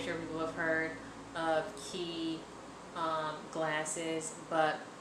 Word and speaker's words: Quay: But it's it's by Quay, and I'm pretty sure people have heard of Quay glasses, but which it's pronounced Quay, but it's QUA if you see it right there.